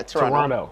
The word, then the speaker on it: Toronto: he was like bro you cannot say toronto the second tea is silent yeah yeah yeah yeah toronto yeah all right yeah